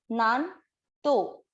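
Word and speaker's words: नान्तो: दूसरा चरण ना के बाद है आधा न, नान तो, नानतो। न में अ मिक्स करना है।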